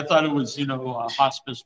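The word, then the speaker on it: Hospes: I don't know if this is pronounced hospice. It's H-O-S-P-E-S.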